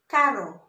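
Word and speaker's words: caro: So, this is pronounced carro.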